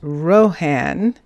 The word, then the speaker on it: Rohan: Here's Rohan. That's how that name is pronounced. That's how we're going to pronounce it.